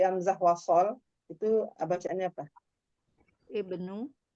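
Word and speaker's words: ابن: seperti itu ya Ibnu Jadi bukan dibaca ubnu atau abnu tapi Ibnu selama-lam kasr ada eh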